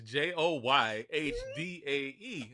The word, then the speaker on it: Joyhdae: It's like today with a J, but her people didn't know that they should just spell it like that.